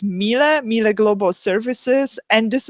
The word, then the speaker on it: Miele: or not yet that the pronunciation of the name it's Milla right and it's really a german-based company so that's why even though in Poland we say miele yeah so we still